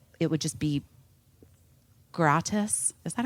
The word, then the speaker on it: gratis: just kind of like it would just be gratus is that how you say it gratis Grace yeah Grace um you know obviously in